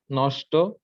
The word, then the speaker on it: নষ্ট: কষ্ট, নষ্ট, বৃষ্টি, সৃষ্টি, তৃষ্টি, অনুষ্ঠান। হ্যাঁ, কষ্ট নষ্টতে লাস্টে ট, ট, ওই যে ট এর সাথে ওকার উচ্চারণ হবে, ওটা একটু কষ্ট, ক্লিয়ার কর।